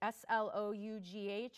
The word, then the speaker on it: slough: to describe uh necrotic tissue um can be Slough that is how this word is pronounced s l o u g h is uh pronounced Slough and this is a